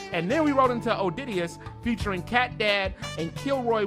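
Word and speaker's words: Odideus: I mean, if you got time, search Odidius.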